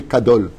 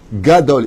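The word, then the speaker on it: גדול: Tu dis pas tu es Kadol, tu dis Gadol, Itga, c'est un gimel. C'est pas un kouf, c'est pas un kaf.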